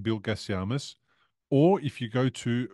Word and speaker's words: Gasiamis: Toni Hickman 01:33 Gasiamis. Toni Hickman 01:35 Gasiamis.